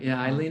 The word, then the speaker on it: Aileen: of your mom, like Aileen and Sinai. Am I pronouncing their names correctly? Yeah, Aileen and Sinai, but yes, they were, I couldn't have made it without the two of them.